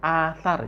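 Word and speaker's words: الأثر: Meskipun tadi cara bacanya itu ilmu lasar, itu nggak usah kita pelajarin sekarang karena itu berkaitan dengan cara baca syair. Tapi aslinya itu asar, ya, ada hamzahnya. Hamzahnya dibuang, terus harokat hamzahnya ditaruh di lam.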